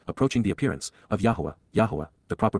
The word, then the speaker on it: Yahowah: face to face, approaching the appearance, of Yahuwah, Yahuwah, the proper pronunciation of the name of Eloah, God as